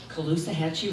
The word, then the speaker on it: Caloosahatchee: No longer accepting poisoned water, toxic air, increasing cancer rates, and the death of the Caloosahatchee River.